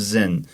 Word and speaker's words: Zin: Is that how they pronounce it? Yes, wilderness of Zin.